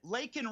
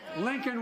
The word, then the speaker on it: Laken: This is when Joe Biden, in the State of the Union address, did not pronounce Laken Riley's name properly. It's not about him. It's not about me. I'd be a winner. Not really. Lincoln Riley, an innocent young woman who was killed by an illegal.